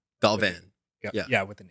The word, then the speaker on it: Galvan: day, they're like, oh, Galvin. And they think it's like pronounced with like an I or something.